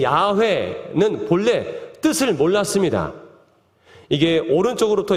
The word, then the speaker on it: 야훼: 우리나라는 이 야훼를 발음할 때 이제 표기를 그냥 여호와라고 표기했는데 본래는 야훼라고 있는 게 맞아요. 근데 야훼라고 알려주셨지만 처음에 하나님께서 나는 있어라고 했을 때 에흐예 아쉐르 에흐예라고 했단 말이에요.